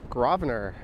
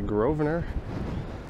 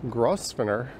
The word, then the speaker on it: Grosvenor: And it's everyone's favorite street to pronounce. Grosvenor. Some people say Grosvenor. But whichever you decide, definitely do not say Grosvenor. Grosvenor, Grosvenor. Don't pronounce that S.